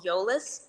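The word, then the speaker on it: Eolas: do the social media editing for it's called yolis it's spelled e-o-l-a-s um and the the designer does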